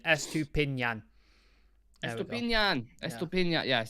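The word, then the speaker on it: Estupiñán: Henry's helped me out with the pronunciation. Estupinan.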